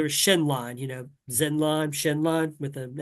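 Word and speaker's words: Xenlon: there was there was shenon you know Zenon shenon with an X um I've always said Zen Lon but they pronounce it shenon in the voice acting which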